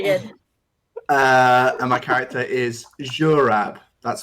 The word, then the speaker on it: Zurab: And my character is Zurab. That's spelled Z-U-R-A-B, but just for everyone else, it's pronounced Z, not Z, in accordance with sort of standard Georgian pronunciation.